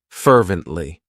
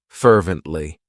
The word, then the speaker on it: fervently: Fervently. It has three syllables and the stress is on that first syllable. Fervently.